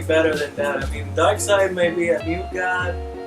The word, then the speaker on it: Darkseid: we have Darkseid. Darkseid? Darkseid.